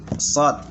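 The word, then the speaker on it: ص: Shod ini ada mat di atasnya, maka dibaca 6 tingkatan atau 6 irama. Cara bacanya di sini. Shod, shod, ya. Shod, ya. Harus begitu, shod. Bukan shod, shod. Salah. Jadi kalau shod itu seakan-akan dia mempunyai hamzah setelahnya, ya.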